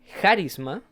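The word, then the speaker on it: χάρισμα: Y en este versículo, en la palabra dones, se pronuncia en griego charisma, o también escrito de otra manera carismata, no lleva tilde, y, pero viene de la palabra raíz charis.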